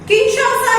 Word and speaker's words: Kinshasa: the southern hemisphere now kinshasa listen to the pronunciation correctly kinshasa is the capital of democratic republic of congo